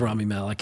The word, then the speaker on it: Malek: I think it's Rami Malek, but It is Rami Malek, and I apologize for saying that wrong.